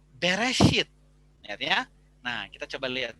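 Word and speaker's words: בראשית: Musa makanya pengusaha menuliskannya itu adalah bereshit karena eh pelafalannya juga Bere hit airnya Nah kita coba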